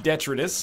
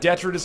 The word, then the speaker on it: detritus: can spawn too much detritus, it's going to make our lives easier. I know what you're saying. It's not detritus, Northernlion. It's detritus. What if I told you it's pronounced differently depending on where in the world you are?